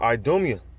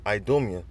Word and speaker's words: Idumea: Behold, it shall come down upon Idumea." Idumea, which is a Greek way of saying Edom. All right, that's how you say it in the Greek, Idumea or Idumea.